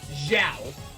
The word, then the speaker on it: Zhao: No, not Chow. Not Chow. Zhao.